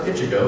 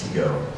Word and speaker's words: Ichigo: It's like, no, it's not Ichigo, it's Ichigo. Your I is like an E.